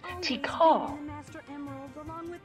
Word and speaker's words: Tikal: Now, I guess I've been saying it wrong. It's not Tikal, it's Tikal.